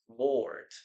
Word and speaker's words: bored: Yes, it's the same pronunciation because we don't pronounce the letter E here.